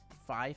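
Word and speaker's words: Fai: Fi or Fay? F-A-I. Fi, thank you, and welcome to Ray Tier.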